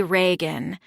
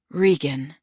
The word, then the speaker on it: Rean: People sometimes say Reagan like the president. Rean, John pronounced then slower. Rean, right? She said, but even then there's Shakespeare, King Lear, one of the evil older daughters.